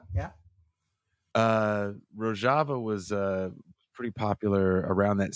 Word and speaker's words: Rojava: Yeah, Rojava. Yeah. Rojava was pretty popular around that same time that Trump was talking about pulling out, because it is a socialist region, correct?